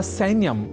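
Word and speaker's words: सैन्यम्: ही चुके हैं कि सैन्य या सैन्यम में ऐ इस अक्षर का शुद्ध उच्चारण करना होता है आवश्यक अर्थात सैन्यम को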